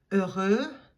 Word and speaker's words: heureux: Heureux, heureuse. Heureux, heureuse. So that H is not pronounced at all.